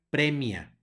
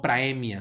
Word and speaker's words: praemia: la siguiente palabra Tenemos el mismo diptongo ae que suena como e por lo tanto se pronuncia premia no praemia sino premia luego tenemos una c